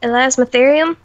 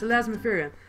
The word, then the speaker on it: Elasmotherium: Elasmotherium? Yeah, perfect. You got it right. Awesome. That's Elasmotherium.